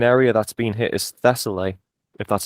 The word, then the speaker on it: Thessaly: My understanding is the main area that's been hit is Thessaly, if that's how you pronounce it. Yes, Thessaly, the Thessalic Valley, if I translate this correctly.